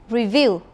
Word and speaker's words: review: Review. Review. It has the second stress, remember.